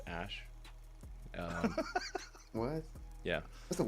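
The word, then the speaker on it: Æ: X um and then the AE is like pronounced Ash um what yeah that's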